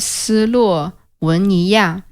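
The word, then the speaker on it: 斯洛文尼亚: Slovenia is called "Si Luo Wen Ni Ya" in Chinese. Which sounds quite similar to its actual pronunciation.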